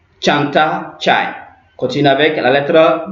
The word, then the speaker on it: çay: En anglais, c'est dit, mais cette lettre se prononce Tche en turc. Ok, donc on a Çiçek, Çanta, Çay. Ouais, c'est très simple. Donc on a Çiçek, Çanta, Çay.